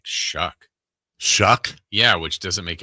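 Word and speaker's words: Shough: And Tyler Shucks' last name is pronounced Shuck, like the word shuck, as in shuck corn or shucks.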